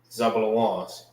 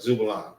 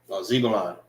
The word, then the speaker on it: Zebulon: So from Guatemala to Panama are the Zabulons. All right, Zebulon. Zebulon.